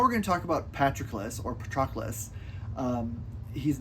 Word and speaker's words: Patroclus: You know, there was no kind of two different letters for c and k in ancient Greek, so it can be kind of tricky, but Patroclus is sort of the the accepted sort of pronunciation of his name.